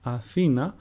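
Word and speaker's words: Αθήνα: So for example, when I pronounce the word Athena, the emphasis is put on the second syllable and not on the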